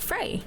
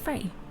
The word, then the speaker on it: Frey: voyage just yet yeah like Frey like the Norse god I always thought Fray yeah it's pronounced Frey wait there's a nose